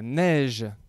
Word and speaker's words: neige: C'est la neige qui tombe en hiver. Et là, tu vois que c'est le E qui suit le G. Et donc, la lettre G se prononce J.